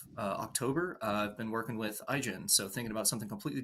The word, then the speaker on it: Aigen: I'm so glad you said Aigen because I realized I had been pronouncing that just a little bit wrong.